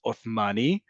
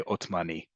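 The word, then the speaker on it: עות'מאני: So in proper Hebrew, it's Othmani, but you simply say Otmani. But it's there just to remind you that it's not Otmani. It should be Othmani.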